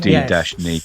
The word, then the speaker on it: Denis: He's supposed to be D-Ni.